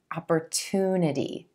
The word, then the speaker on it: opportunity: I want to draw your attention to the sound at the beginning of the 3rd syllable. It's a t, true T sound. Opportunity. A lot of you have asked me if this is a CH sound, opportunity, but in American English, we use a true T here, opportunity, and emphasizing that oo as in blue sound in that 3rd syllable, opportunity.